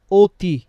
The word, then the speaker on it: অতি: এখানে উচ্চারণটা দেখেন আমরা কি বলি? অতি।